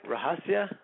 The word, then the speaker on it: Rahasya: we uh did I did I say your name right rahasia yes you did usually gets butchered but